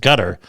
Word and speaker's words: Qatar: Armageddon scenario for gas market says Qatar or gutter, I've always heard it pronounced gutter, as Qatar, Q A T A R, hit by missiles.